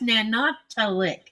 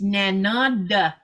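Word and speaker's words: Nanortalik: Now, when tourists see it, they're like, oh, that's Nanotalik. It's not. It's Nanada, that D sound, but I make it a little too hard.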